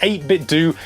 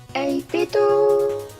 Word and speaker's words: 8Bitdo: Yes, this is the 8Bitdo FC30 Pro.